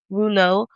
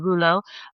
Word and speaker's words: rouleaux: So, another thing is rou- rouleau formation.